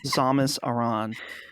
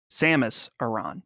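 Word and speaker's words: Samus Aran: voice existed somewhere somehow SAS Iran okay Samus Iran that's the correct one okay so Samus almost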